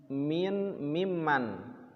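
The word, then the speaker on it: ممن: Nah, mimman itu asalnya min man, asalnya gitu, min man, tapi ditulisnya disambung, digunakan, diidghamkan jadi mimman. Karena kan kalau kita baca sama aja kan, kalau ditulisnya terpisah min man, ya, sama, ya, min man dengan mimman dibacanya sama-sama saja, tapi ini disingkat, ya,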